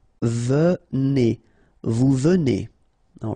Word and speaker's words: venez: nous venons, all right, vous venez, okay, so a Z at the end combined will give you the sound E, and here you get E, venez, vous venez, all right, and then il viennent.